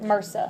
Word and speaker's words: MRSA: So they call it MRSA, like doctors and nurses pronounce it MRSA.